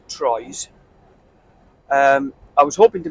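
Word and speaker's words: Troyes: high up I'm up near TW uh or as it's spelled Troys um I was hoping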